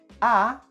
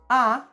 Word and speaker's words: há: So, in Portuguese, we can say "há" using the verb "haver" and "tem" using the verb "ter." Remember that with the verb "haver," the letter H at the beginning of words is not pronounced.